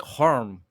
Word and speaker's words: Holm: There's an R somehow in there. It's like Harm. Odin Thiago Holm.